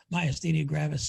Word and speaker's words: myasthenia gravis: that's improved is i don't have the devastating myasthenia gravis symptoms we should spell that doctor for the people who are watching